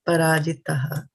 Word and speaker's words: parājitaḥ: This one, mahā-rathaḥ, and this is parājitaḥ. Right? So there's a difference between the two words. So we will be pronouncing it also differently. This is tha for thali. This is ta for titli.